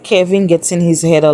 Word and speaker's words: Kevin: Like I said, I've been saying his name wrong. I thought it was Kievan, but apparently it's Kevin.